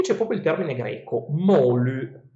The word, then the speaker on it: moly: Gli dèi lo chiamano, e qui c'è proprio il termine greco, Molu, Moly, pronunciato correttamente alla greca, Molu.